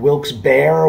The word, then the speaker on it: Wilkes-Barre: morning i am in wilkes-barre wilkes bar wilkes-barre pennsylvania however you want to pronounce it i did ask the girl at the front desk how it's pronounced and she said well it depends on the time of day and how she's feeling so i'm not wrong by how i'm pronouncing i say wilks barry anyway so this